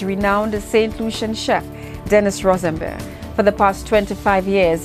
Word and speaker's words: Rosembert: Rosembert. That's how it's pronounced.